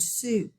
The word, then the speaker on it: soup: Digraph OU makes the oo sound, as in the word soup. So we will code this one. We're going to underline it. We do not hear the O. Okay, and we hear a long U sound, soup.